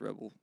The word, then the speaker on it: Rebel: And Rebel, which we did get confirmation that it's pronounced Rebel, will be subbed out for Wei.